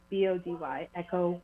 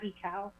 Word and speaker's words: Echo Body: And that's yes, EKOWBODY, Echo Body. I love it. And it's Love it. echo like the sound, not ecow.